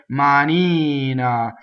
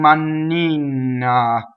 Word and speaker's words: manina: so where we have this is a good word for single n the accent is on the e vowel right ma Nina so we tend to sing money na so double n right so same thing double